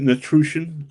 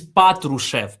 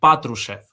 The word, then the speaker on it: Patrushev: And Natru- It's Natrusian. Am I pronouncing that correctly? Uh could could could you repeat this? It's the head of the SVR, I think. it's it's it's it's it's Patrushev. Patrushev. Patru- It's Patrushev, yeah.